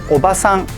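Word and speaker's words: おばさん: sound the same, where the only difference is that one has a longer vowel and the other one doesn't. Using the wrong pronunciation can change the meaning of a word entirely. So let's hear some examples. First, we have obasan, which means aunt, and obaasan, which means grandmother. Next up, we have ningyo, meaning mermaid.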